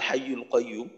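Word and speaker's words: الحي القيوم: ওয়াকফ করার কারণে এইটাই হলো বাক্যের শুরু আল হাইয়ুল কাইয়ুম তো অনেক জায়গায় দেখা দেখা যায় যে আয়াতের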